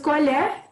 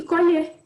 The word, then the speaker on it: colher: Colher tem um som mais fraco no E, colher tem um som mais acentuado no E.